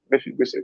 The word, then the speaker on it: Mephibosheth: I don't know which one is the correct pronunciation. Mephibosheth. Yeah, Mephibosheth is the correct.